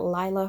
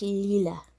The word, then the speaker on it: Leela: I know we were pronouncing it Lila for like ever, and we came to find out that it's pronounced Leela.